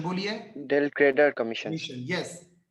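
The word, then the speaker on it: del credere: ना क्रेडिट sale without डेल क्रेडिट commission ल क्रेडिट नहीं पहले प्रोनाउंस ठीक कीजिए डेल क्रेडर कमीशन बोलिए डेल क्रेडर कमीशन यस तो सर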